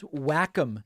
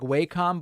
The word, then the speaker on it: Wacom: And I have this Wacom tablet. I know it looks like Wacom, but I'm told it's pronounced Wacom.